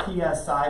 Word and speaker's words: psi: It's spelled PSI, but it's pronounced Psi, like I think there's Uncle Psi on the Duck Dynasty over there.